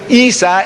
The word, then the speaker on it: Isa: Esau, if that is his name, and you are taking exception to Isa, a pronunciation in Arabic of that Hebrew name Esau, Isa, where do you get Jesus from now?